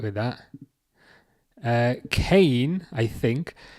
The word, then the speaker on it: Kane: Oh, is it Kane? Sorry, is that how you pronounce it? Kane. I'll remember that. I was like, is it Kian? I think I'm doing it wrong, but it's Kane.